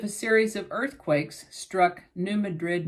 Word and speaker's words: New Madrid: series of earthquakes struck New Madrid Missouri or they might pronounce it new grid in that area Missouri on February 7th